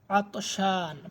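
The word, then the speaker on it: عطشان: উচ্চারণ করে কিন্তু আমরা আরবি হরুফ গুলা সুন্দরভাবে উচ্চারণ করার চেষ্টা করব তাবান ক্লান্ত আতশান পিপাসার্থ আতশান আইন তীন আলিফ নুন আতশান পিপাসার্থ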